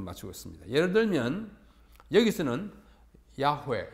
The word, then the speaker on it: 야훼: 예를 들면 여기서는 야훼, 여호와, 야훼라는 말은 여호와라는 말의 히브리식 발음 또는 독법이라고 이해하면 되겠습니다.